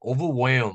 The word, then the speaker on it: overwhelm: overwhelm 하면 overwhelm 아니고 overwhelm 이렇게 발음하죠.